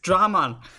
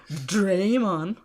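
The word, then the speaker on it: Dramon: everyone's pronunciation of dra it's dramaan not draymond oh it's a dragon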